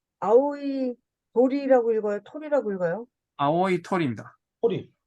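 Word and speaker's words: 青い鳥: 톨이라고 읽어요? 아오이 토리입니다.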